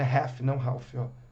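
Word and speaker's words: Ralph: do rap é o Ralf Eu brinco com os meus alunos que Ralf é o do Detona aqui é refém quando a gente fala né E realmente a pronúncia a melhor pronúncia para a gente entender o que que a pessoa tá falando é raff é mudo o s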